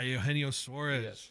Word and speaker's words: Eugenio Suarez: Eugenio Suarez.